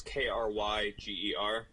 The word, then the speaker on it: Krieger: Yeah, it's Krieger, and that's Kryger.